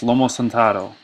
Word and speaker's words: lomo saltado: It's pronounced lomo saltado.